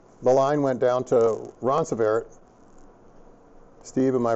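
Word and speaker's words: Ronceverte: And the line went down to Roncevaret. Steve, am I pronouncing that correctly? Roncevaret.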